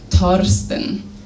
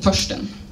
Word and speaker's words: Thorsten: En la germana la nomo Thorsten estas kutime. Kaj mi ĉiam diris Thorsten, sed la germanoj mi ne komprenis, ĉar la nomo estas Thorsten, ne Thorsten. Yes.